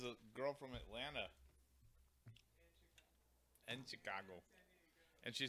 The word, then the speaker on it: Chicago: the 8th grade before I found out there was no R in Chicago. That's how my parents pronounced it.